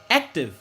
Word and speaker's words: active: Donc c'est dans ek là, c'est ek là qui prononce plus fort. Active.